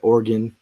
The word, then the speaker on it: Oregon: week I was because I said Oregon I don't know said orgon orgon is the right way to say it but our uh our